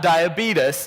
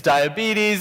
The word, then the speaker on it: diabetes: And so it's him saying it's not diabetes, it's diabetes.